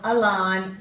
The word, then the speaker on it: align: Our words today are nash, null, align, benign, consign, dane, reign, foreign, campaign and assignment. So in these words the G is silent and it usually comes before an N.